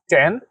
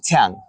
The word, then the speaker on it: Chyang: Is that 10? Like the number 10? No, tang. Can you like spell it?